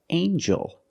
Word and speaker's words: angel: we have with El angel in this word the G makes a j sound like jump and Juice together with the n a regular n Sound not the nasal um but the regular n Ain Joel Angel this